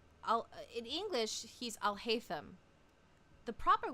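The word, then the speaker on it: Alhaitham: The proper way would actually be Al-Haytham. Like, in like the culturally, in the culture for that he comes from, it should be Al-Haytham. But and also in Japanese, because they can't pronounce a lot of consonants, they call him Aruhaizen.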